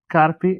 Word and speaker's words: Carpi: in h car carpi karpie how do you say that Kari yeah Kari I took Spanish a